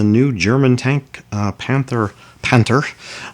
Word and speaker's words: Panther: german tank uh panther panter osd if we want to pronounce it in german uh panzerkampfwagen pantheroffs dst